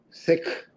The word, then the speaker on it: Sikh: For those wondering, the correct pronunciation of the word sik is with a short I and an aspirated K, just the way you are describing it. Sounds most like the English word sik.